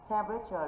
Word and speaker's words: temperature: Temperature là danh từ. Danh từ nằm trong quy tắc chung. Quy tắc chung thì trọng âm rơi vào âm tiết thứ nhất.